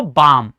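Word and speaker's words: balm: बाम। ठीक है? वहां पे एल साइलेंट होता है क्योंकि एम से पहले एल आ रहा होता है।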